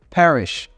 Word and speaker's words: parish: oh okay nice nice Parish Parish with an a parish yeah Parish p a